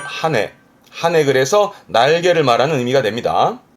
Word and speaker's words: 羽: 그래서 발음은 하네.